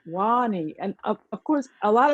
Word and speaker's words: Wahne: street and call you Wayne. Yes. So my name is a Liberian name. It's pronounced Wahne.